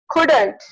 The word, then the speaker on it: couldn't: Couldn't. In the couldn't, the D sound is silent.